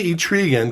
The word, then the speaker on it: Etrigan: how you say it I say each Regan because it runs better with demon okay so people see